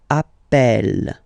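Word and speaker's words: appelle: the pronunciation of uh you tend to pronounce it like e e really open that's the reason why you pronounce it Appel Appel okay Appel Appel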